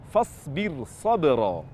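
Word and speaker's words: فاصبر صبرا: Fasbir sabra. Jadi, fasbir sabra bukan tafkhim, namun dibaca tarqiq karena ra-nya terpisah dengan huruf isti'la yang terletak di setelahnya.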